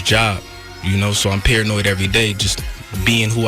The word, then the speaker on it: Paranoyd: Paranoid. Yeah. And you got to say it right. Paranoid. Yeah. It's paranoid. Yeah, like, you know, you paranoid, but but it's paranoid.